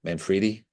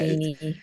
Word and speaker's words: Manfredini: Manfredi? How do you say it? yeah, Yeah, Manfredini.